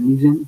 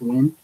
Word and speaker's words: Nguyen: My last name is Ngyen. They said Nguyen, but it's Win.